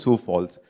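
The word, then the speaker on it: Sioux Falls: the full spelling is SEO ux but it's pronounced sou Falls in case if you are not aware City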